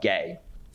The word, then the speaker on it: GAI: co-founded gay American Indians gai which was just pronounced out gay a San Francisco organization